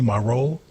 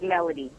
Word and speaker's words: Melody: I want to say your name correctly. Am I saying it correctly? Marole? Hello. Hi. My name is Melody.